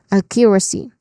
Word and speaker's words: accuracy: And then it ends with c which is a short a sound. Oh no it uh it is a long a sound. Okay. Accuracy. No. Yeah. Short a sound. Accuracy. Next is discourse.